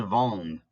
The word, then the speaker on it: vendent: Ils vendent. Remember, ENT is silent when it's a verb.